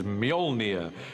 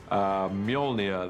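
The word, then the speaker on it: Mjölnir: of Thor's almighty hammer the first challenge with the hammer is to work out how to pronounce it he which is Mjolnir in our movie at the moment till somebody corrects me I'm sure they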